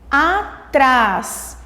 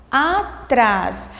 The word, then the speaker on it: atrás: Atrás, atrás. Às vezes a gente pode confundir porque a vogal a, ela é bem aberta. Então, às vezes você precisa pronunciar mais de uma vez para encontrar a sílaba tônica, a sílaba mais forte. Atrás, atrás. Então, a sílaba forte, a sílaba tônica de atrás é o trás.